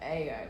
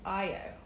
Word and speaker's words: Ayo: I was asking her to say her name because I called her Ayo, but actually it's Ayo, which is a beautiful name.